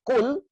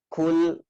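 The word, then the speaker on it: قُلْ: Kalau qul, kaf itu makan, artinya makanlah. Tapi qul, qaf, qul, katakanlah. Nah, jadi kalau kita bacanya kul ya ayyuhal kafirun, makanlah wahai orang-orang kafir, malah ngajak makan, ya.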